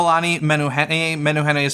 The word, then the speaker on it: Menehune: men who had a Menehune is spelled its menu and then H E and E men new honey so Google that and